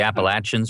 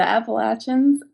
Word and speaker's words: Appalachians: that's in my bones how do you say the mountains down there the mountains well the hills and the hollers and the the the Appalachians or the appalachin the app oh the appalachin I say appalachin although